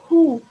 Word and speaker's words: who: Cara bacanya bukan kalau untuk who ya, bukan who, tapi who, ha, hu. Karena W-nya di silent letter. Iya, W-nya itu di silent, nggak dibaca. Jadi who, bukan who.